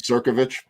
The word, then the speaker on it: Crnkovich: But, you know, when I met you, you pretty much said, okay, the N is silent, Crnkovich.